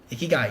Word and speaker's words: ikigai: Yeah, I can't pronounce it because it's a Japanese word. Sure. Ikigai, yeah.